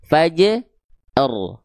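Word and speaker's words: فجر: Yang tebal cuman huruf ro-nya doang. Fa dan jim jangan ngikut tebal. Karena pengin menebalkan huruf ro. Fa dan jim ikut tebal. Jangan. Ya, makanya kita penggal-penggal dulu bacanya. Fa je r fa je r fa je r. Sambung faj r. Faj r. Sambung lagi. Fajr. Fajr. Fajr. Fajr. Jimnya tipis pantulannya. Fanya tipis ro-nya tebal ya.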